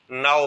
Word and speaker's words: know: Letter का इस्तेमाल करेंगे, यानी यहाँ पे के जो है साइलेंट है, के नहीं पढ़ेंगे, जस्ट हम इसे नाउ पढ़ेंगे।